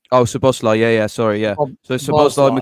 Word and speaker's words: Szoboszlai: It was Gravenberch, McAllister, and Soboleski, is it? I can't pronounce his name. Oh, Szoboszlai.